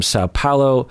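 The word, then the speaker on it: São Paulo: Highest tier annual patron Aline from Sao Paulo, Brazil.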